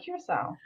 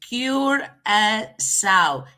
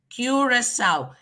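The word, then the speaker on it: Curaçao: when you see that, then you have to pronounce that C as an S. Curacao.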